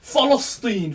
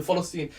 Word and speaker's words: Palestine: go back to the palestine i'm not going to say pastor i might goof follow steen fam you got to say it properly follow scene the protest was guaned